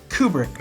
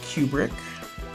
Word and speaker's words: Kubrick: I believe Stanley's last name is pronounced Kubrick, not Kubrick, as you were saying it. Thanks. It's Kubrick, not Kubrick.